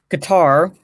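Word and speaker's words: Qatar: transitioned through Germany England guitar or cutter as it's pronounced and Kyrgyzstan that's it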